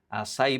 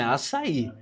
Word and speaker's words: Assaí: Assaí, porque tem um acento no final da palavra. É. Então é Assaí.